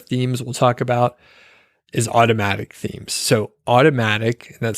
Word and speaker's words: Automattic: The next set of themes we'll talk about is automatic themes. So automatic, and that's spelled AUTOMATTIC.